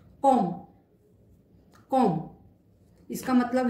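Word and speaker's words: comme: सी के बाद ए आ रहा है, से के बाद आ रहा है, इसलिए इसका उच्चारण हो गया काइये, काइये। एक और एग्जाम्पल देखते हैं। कॉम, कॉम इसका मतलब है एज, सिंस।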